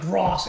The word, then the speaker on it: Gross: name gross gross cross it's GRS like that they call pronounce like gross anyway feel good story